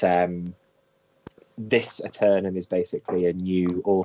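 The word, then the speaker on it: Aeternum: it's uh new world atum atum is it how you say it how do you say it um atum aternum good um so this is uh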